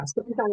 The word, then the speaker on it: Sipitang: Am I pronouncing that right? Yeah. Sipitang, Malaysia, yeah.